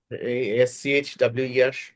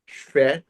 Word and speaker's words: schwer: তারপর সুফার উচ্চারণটা কি? das muss SCHWER সুয়ার আর কারণ সুফার।